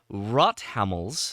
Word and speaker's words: Rothammel: a really fun interview with the translator for rot hamls that's how you pronounce it uh the antenna book from Germany